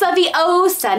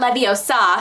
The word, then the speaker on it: Leviosa: You said it right. It's Leviosa, not Leviosa.